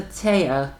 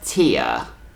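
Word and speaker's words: Téa: weird part about it the names that are changed from the from the original are mispronounced anyways like for whatever weird reason they refer to taeya as tia i don't know why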